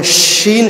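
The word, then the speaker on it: شين: যখন আমরা শাইতান, আউযু বিল্লাহি মিনাশ শাইতানির রাজিম উচ্চারণ করছি, তখন শিন শব্দটার উচ্চারণ কোথায় থেকে হয়? শিন, এই দাঁতের ছিদ্রগুলি দিয়ে এর উচ্চারণের শব্দটা বের হয়ে আসে, যেটাকে আমরা এই অক্ষরটাকে কি বলি?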